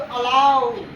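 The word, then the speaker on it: allow: A double R ओ डब्ल्यू, अलाउ, है ना।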